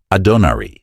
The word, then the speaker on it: Adonari: The Hindu goddess Adonari, or as it might be more properly written, Adonari, since the second A is pronounced almost like the English O, is represented as surrounded by the same figures.